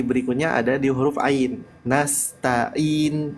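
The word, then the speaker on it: نَسْتَعِينُ: ada di huruf Ain nastainin bukan in tapi a a ainya ditekan sedikit ya Dan kalau kita lihat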